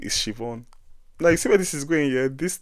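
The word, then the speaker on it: Siobhán: Now speaking of accent, language, and the rest, please, for the love of God, do not try to pronounce an Irish name the way it's spelled.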